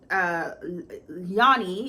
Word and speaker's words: Yanni: She's a marketing kind of exec, and she's approached by Yanni is how it's pronounced, Yanni von London.